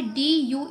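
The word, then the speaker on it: due: इसी तरह से डी यू ई, ड्यू, ठीक है ना, ड्यू, ड्यू, यू का साउंड आ रहा है, ई का साउंड नहीं आ रहा, ईशू, ईशू की स्पेलिंग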